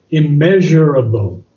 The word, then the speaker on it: immeasurable: See, I hear J in your pronunciation. There's no J. I measurable. No, immeasurable.